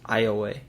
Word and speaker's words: Iowa: Other nearby Suin peoples referred to them as the Iowa or sleepy ones, a word French explorers and trappers pronounced Iway. Later English-speaking settlers anglicized the name to Iwaya or Iowa, giving it to both